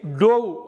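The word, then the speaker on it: dove: Again டோவ், டிஓவிஇ டோவ் அப்படிங்கிறது மேலேருந்து கீழே தண்ணியில் குதித்தது.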